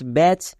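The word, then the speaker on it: batch: রেড কালারের লেখা হয়েছে কেন কারণ সাইলেন্ট লেটার উচ্চারণ হবে না next M এ টি সি এইচ ম্যাচ বি এ টি সি এইচ ব্যাচ এখানে দেখো ওয়ার্ডের শেষে চো পাচ্ছি চো পাওয়ার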